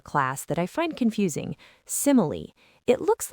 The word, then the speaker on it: simile: The correct pronunciation has three syllables and the stress is on the first syllable.